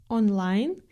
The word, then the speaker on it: онлайн: Вы знаете, что о без ударения произносится как а или как шва. Но в слове онлайн она нередко звучит как олайн или как что-то среднее между о и а онлайн.